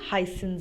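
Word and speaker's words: heißen: of double s so this beta sign takes the pronunciation of double s so v heisen z this is the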